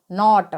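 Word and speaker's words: knot: नोक इसी प्रकार से केनो टी जब के बाद में नई जब के के बाद में नई तो वहां पर क्या होता है के साइलेंट रहता है तो केनो टी को हम क्या पढ़ेंगे यहां पर नॉट इसी प्रकार से नाइफ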